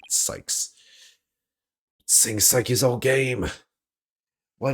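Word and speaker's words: Cykes: She was found on the 5th floor of the Space Center, in the Psyches family residence. Oh, I said Psyches again. Sykes.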